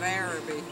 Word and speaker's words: Arabi: name of the town does anybody know how to pronounce the name of the town said it's Arab it's it is araby how about that well